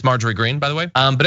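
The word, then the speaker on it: Marjorie Greene: to be by the way we have that name wrong in there um it's marger green by the way um but anyway uh so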